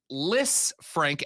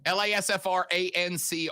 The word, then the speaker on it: Lisfranc: A Lisfranc, Lasfranc, is a tarsometatarsal fracture dislocation characterized by traumatic disruption between the articulation of the medial cuneiform and base of the second metatarsal.